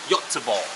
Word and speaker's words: Göteborg: G-O-T-E-B-O-R-G instead of Gothenburg. This is pronounced as Göteborg, right?